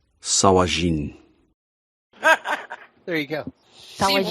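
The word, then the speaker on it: sahuagin: The Sahagwin. Yeah, thank you. I couldn't remember. This is a Dwarven translation of an Elvish word, so it is pronounced Sawajin.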